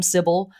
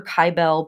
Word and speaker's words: Kybele: syil a lot of people pronounce her name cibil I pronounce her kyel because her name is also related to names